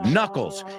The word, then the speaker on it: knuckles: Nudillos, little knot, no, knuckles. Tiene una K muda como la palabra knife or no. You know about knuckles and knives? Muchas K's que no se pronuncian ahí.